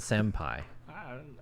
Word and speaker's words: Senpai: And why is it Senpai? Oh, Senpai, like It rhymes with Jin Pai.